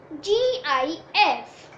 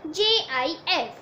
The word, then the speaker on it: GIF: e g file extension g i f it is pronounced as gif or jif this file format is